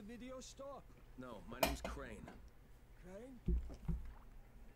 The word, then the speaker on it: Crane: No, my name's Crane. Crane? Crane rhymes with train and brain and sane and grain and rain.